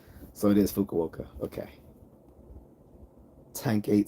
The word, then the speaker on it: Fukuoka: uh close to the water and yes she pronounced it right okay good it's so it is Fukuoka okay tank8 says what are you going on